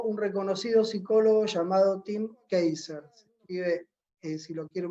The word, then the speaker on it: Kasser: Que desarrolló un reconocido psicólogo llamado Tim Keiser. Se escribe, si lo quieren buscar después, Kasser.